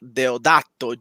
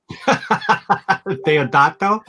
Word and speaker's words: Deodato: So it's Mike Deodato Jr. That's Italian. My bad. That was with an Italian accent. Deodato? Deodato.